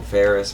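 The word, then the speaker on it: Faris: this badass armor um his name is actually King Ferris but it's it's spelled f-a-r-i-s that's why I kind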